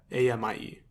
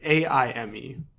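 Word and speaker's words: Aimé: So his last name is Fils-Aime, and it's Fils-Aimie. Yeah, Aimie. No, wait. No, I'm sorry. Aime.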